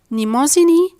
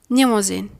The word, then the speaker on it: Mnemosyne: The nasal M is silent before the nasal N, and the N sound is silent after the M sound.